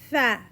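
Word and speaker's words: ف: Fa is light, soft letters and we have to pronounce the same way we pronounce apple. Fa.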